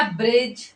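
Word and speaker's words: bridge: silent हो जाता है जैसे जैसे हो गया ब्रिज लॉज ठीक है यहां पर क्या है डी के साथ जी है डी के साथ जी है तो यहां पर डी को नहीं पढ़ते तो क्या पढ़ते ब्रिज डी हो जाता है साइलेंट सेम वैसे ही है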